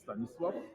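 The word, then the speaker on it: Stanisław: Now, Stan, first of all, how do you really pronounce your name because I mispronounce it every time. It's Staniswaf. Staniswaf.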